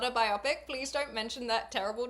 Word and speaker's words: biopic: The word biopic is officially pronounced biopic. According to major dictionaries, biopic is... yeah, I say biopic.